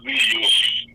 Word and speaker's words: griot: We call it griot. If I can spell it for you, GRIOT.